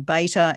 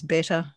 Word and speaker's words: beta: of you out there it tends to be pronounced different ways in different countries uh often beta in the us sometimes better in various countries so anyway i call